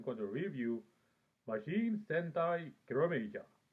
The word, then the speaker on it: Kiramager: to review majin sentai kerameja well actually it's written as machine scenario major but i'm going to say the way it's pronounced now i'll start with